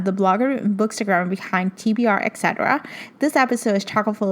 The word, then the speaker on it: TBR etc.: And it's called TBR, etc. So that's how you pronounce it. But if you were to look me up on Instagram, it kind of looks like a weird word, like tuberec or something, but it's actually supposed to be pronounced as TBR, etc.